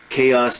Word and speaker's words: chaos: Notice the pronunciation. Chaos, total disorder.